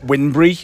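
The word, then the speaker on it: Wybunbury: Um there's a place called um Wimbury, which is spelled Y Bumbry, but everybody says, "All right, okay, what does that mean?" And it's actually pronounced Wimbury.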